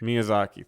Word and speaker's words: Miyazaki: Miyazaki. Thank you. I can never Mhm.